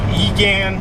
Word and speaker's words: Egan: So Egan, Louisiana. You guys know I have a hard time with the pronunciation of these places.